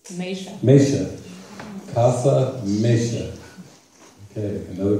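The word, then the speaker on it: Meixa: In Spanish, it pronounces Misha.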